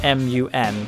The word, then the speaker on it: Mun: of the game is mu n which would be pronounced Mun kind of like how